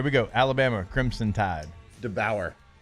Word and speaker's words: DeBoer: DeBauer. Are we accepting that? We'll accept- DeBauer. Yeah. Kalen DeBoer. We accepting that? DeBauer. Yeah, because I feel like he's faking saying it wrong.